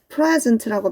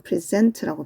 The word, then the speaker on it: present: present라고 발음을 하면 안 돼요. 얘를 present라고 발음하면 명사로서 선물이라는 뜻이고 여기서는 동사로 쓰였죠. 그럼 present라고 발음합니다. present 하면은 제시하다 또는 소개하다 라는 의미로 쓰여요.